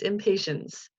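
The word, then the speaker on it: impatiens: did it right, because we kind of say it like we're not being patient, but the opposite. That's right, it's the impatience. I always want to say impatience, but it's impatience.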